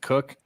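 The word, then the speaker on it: Koch: person I knew there her last name was k-o-c-h she pronounced it cook no sorry [ __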